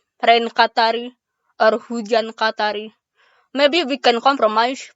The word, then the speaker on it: hujan: It sounds similar to Fiona's last name, Maharaj Hossein. So if you know how to pronounce Hossein, you know how to pronounce Hujan. Just change the S to J, Hujan.